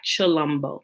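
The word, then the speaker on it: Tshilombo: s h is for it's pronounced chi like chalumbo and also once you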